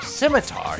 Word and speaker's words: scimitar: have to use our scimitar yes we found the proper pronunciation for that word c is silent and discover some new